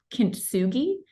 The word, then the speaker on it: kintsugi: uh tradition I might mess up how they pronounce it but it's called kintsugi yeah and it's interesting so when Pottery breaks